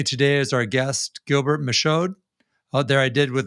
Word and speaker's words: Michaud: is our guest gilbert michod out there i did with the d that's gilbert michaud a french pronunciation and uh gilbert's a